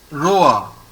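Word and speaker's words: roi: There is O-I. O-I is pronounced as O-A. So how to pronounce this word? Roa.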